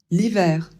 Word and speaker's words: hiver: Donc ça donne automne l'hiver. Ici, on ne prononce pas le H.